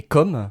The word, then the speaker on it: comme: On va dire que comme le like c'est euh c'est plus ouvert hein, la bouche est plus ouverte et comme le prénom la bouche est plus fermée, plus ronde.